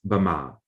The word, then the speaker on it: Myanmar: Now, of course, you all know that Myanmar and Burma or Bama are the same word. It's just different varieties of the language. So the literary Myanmar in colloquial Burmese has always been pronounced as Bama.